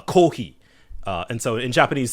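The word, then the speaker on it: コーヒー: Um so uh the In Japanese, the way you pronounce coffee is uh kohi.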